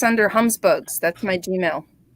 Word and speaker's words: Humsbug: Oh, I think it's under Humsbugs. That's my Gmail. Humsbugs, like humbug, but Humsbug.